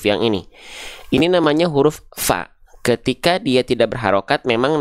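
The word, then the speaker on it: ف: keliru teman-teman sahabat-sahabat sekalian Jangan sampai kita baca pa Ya pa pipu tapi Fa fi fu Nah kita bahas dulu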